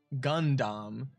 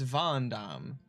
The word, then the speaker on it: Van Damme: but the way that you say it the pronunciation would be the same in the case of Jean-Claude Van Damme it's not Gundam it's Van Damme so you're actually changing the letter I just